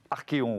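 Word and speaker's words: Archéon: bienvenue aussi directeur général cofondateur d'archéo nous prononcer comme sanction arkeon voilà j'ai la bonne prononciation le lieutenant william joue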